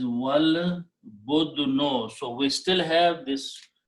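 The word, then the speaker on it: والبدن: So when you recite with waw, which is and, you do not pronounce this alif. This alif becomes hamzatul wasl, small swad. So the pronunciation is wal budno.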